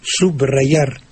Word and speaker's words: subrayar: usted nociones de morfología entonces usted pronuncia subrayar es decir no licua la e con la B pero si usted la